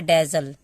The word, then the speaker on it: dazzle: Pronounce करने के लिए डी को ड पढ़ते हैं, ठीक है, ए को यहाँ पे ए पढ़ेंगे, ए, डबल जेड को ज, एल, ला। ई का उच्चारण हम नहीं करते हैं, क्योंकि कभी भी किसी भी वर्ड में अगर लास्ट में ई होता है तो ई साइलेंट होता है। तो इसको हमको कैसे पढ़ना है, डेजल।